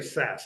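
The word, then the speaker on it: Szasz: like I should say SAS I always slip to say SAS he says it's pronounced like Saskatchewan okay so for anybody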